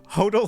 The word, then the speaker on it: hotel: I pronounce it hotel, like, oh, hodel like total.